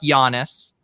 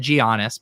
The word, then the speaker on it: Giannis: of pronunciations lately i i messed up giannis on the swell cast today i said giannios my bad someone told